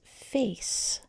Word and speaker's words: face: This word is face. The C is soft. It's saying its sound because it's followed by the E.